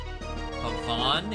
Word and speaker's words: Haven: Havon Haven? Oh boy, the good old Fire Emblem pronunciation game. Village is being attacked. I think I'm going with Haven? No, Haven is right.